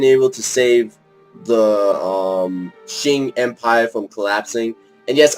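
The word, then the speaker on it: Qing: from collapsing and yes I realize it's actually pronounced for shin when I was um in History Class actually I realized in History Class my teacher was talking about them I thought they were pronounce the queen it's actually called the shin and I wish I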